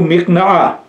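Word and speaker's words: مِقْنَعَة: Bu mikna'a, buradaki vehiyenin zamiri nereye gidiyor? Efendim mikna'a, kesrilmeyim. Mikna'a derken mimin kesresiyle. Mikna'a.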